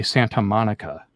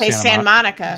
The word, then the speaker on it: Santa Monica: Tok Trend about how La people don't don't pronounce their te's and I was thinking that can't be true and I was thinking about it is no we don't we don't say Santa Monica we say Sant Monica Santa Monica we're actually